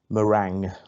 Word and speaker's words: meringue: till hard it's meringue meringue although it's kind of spelt merengue but i'm sure we pronounce it as meringue uh question number three